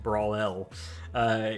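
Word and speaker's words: Brawel: At that time, my friend and I were just creating a game mode called Bakugan Brawl, and it's spelled B-R-A-W-E-L, so like Brawl L.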